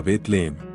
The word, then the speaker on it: Belén: largo del nuevo testamento en arameo la lengua común en Palestina durante la época de Jesús Belén probablemente se pronunciaba de manera similar a betlehem Aunque el término Beto